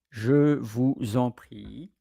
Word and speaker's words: je vous en prie: Je vous en prie.